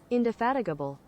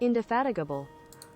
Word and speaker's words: indefatigable: ever seen okay hold on Firefox sounds Google indefatigable that's how you pronounce it indefatigable that's how you pronounce oh Jesus Christ anyway